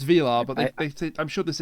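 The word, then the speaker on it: Vilar: to an actress peace i'm saying his name wrong by the way it's arturo it's it's v-i-l-a-r so it's velar but they i'm sure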